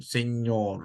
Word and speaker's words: señor: Then it gives a nya sound, señor, like that.